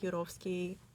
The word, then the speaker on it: Turovskiy: He took the family down to the basement, and when they were in the basement, Turovskiy There you go. I pronounced the name for you.